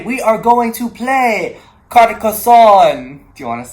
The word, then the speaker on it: Carcassonne: So here's how you actually say the name of the game. French, Carcassonne. Carcassonne. Carcassonne.